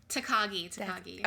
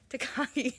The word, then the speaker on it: Takagi: See, now I'm going to say his name wrong because we said it wrong the first time. Takagi. Okay, good one. Takagi.